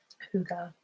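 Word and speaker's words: hygge: I would say Higgy. CH Chick Noodle, howdy from Texas. Thanks, Josh, for your lovely words. Yes, Huga.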